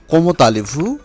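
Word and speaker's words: comment allez-vous: এরপর একটি এক্সপ্রেশন আছে কোমোতালেভু। এই কোমোতালেভু এক্ষেত্রে প্রথম কোমো এর শেষে অনুচ্চারিত তে এবং আলে এর শুরুতে যে ভাওয়েল রয়েছে আ তার সাথে সন্ধি হয়েছে কোমোতালেভু।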